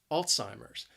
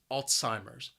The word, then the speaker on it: Alzheimer's: memory loss alzheimer's now the word has three syllables and the stress is on that first syllable and i think that first syllable is what makes this word a little challenging alts it sounds like alts alzheimer's alzheimer's what's it do alzheimer's